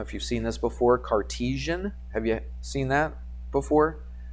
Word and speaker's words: Cartesian: Cartesian is how you say that, Cartesian.